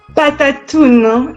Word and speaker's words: Patattoune: Patattoune? Patattoune.